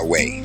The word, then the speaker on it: Iowa: We pronounce it way, Louisiana.